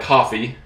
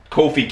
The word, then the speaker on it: Kofi: I said his name I was pronouncing it more like coffee coffee um Kofi Kingston like you see